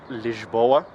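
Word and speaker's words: Lisboa: in English in in every other language it's pronounced liboa okay so liboa is a beautiful city uh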